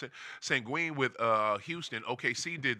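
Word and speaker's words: Şengün: I don't know we call him sangon but sangui I guess that's the way you're supposed to no no no sangui is the nickname uh sangen I guess that's the way you supposed to pronounce it sangen with uh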